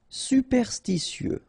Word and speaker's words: superstitieux: Superstitieux, okay, so final X not pronounced. Superstitieux.